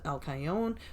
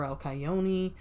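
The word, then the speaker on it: Alcyone: the Pleiades which is alcayon or alcayoni alcion however you want to pronounce it whatever it's spelled the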